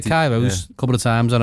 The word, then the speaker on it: Kairos: I've said Kairos a couple of times, and I've said Kairos.